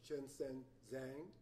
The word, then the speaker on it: Shenshen Zhang: This is Shenshen Zhang.